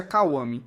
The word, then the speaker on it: Kawami: O caractere do nome dele é Gokudo, mas ele se apresenta e explica que se pronuncia Kawami.